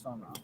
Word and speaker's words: FOMO: It's FOMO.